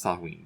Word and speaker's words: Samhain: Okay, it's pronounced Samhain though, and it was a celebration of the